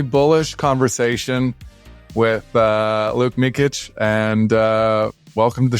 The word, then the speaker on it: Mikic: for a very bullish conversation with uh Luke mikit and uh welcome to the show thanks for